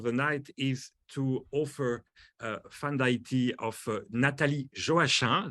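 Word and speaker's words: Fanm d'Ayiti: That's how we pronounce it, actually. She's from Haiti, and she told me she likes her name to be pronounced in a kind of French way somehow, so Haiti way.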